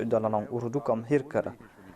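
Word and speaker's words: هرقل: On avait posé cette question, à savoir que j'ai prononcé Eriaklus dans la langue ourdou comme Hirkal, alors qu'en arabe, on prononce cela comme Hirakal.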